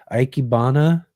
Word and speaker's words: Ikebana: paradise are often used in how do you pronounce that? Ikebana?